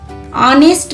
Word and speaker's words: honest: Honest man. Here it started with H, but pronouncing first H word, H we are pronouncing honest man.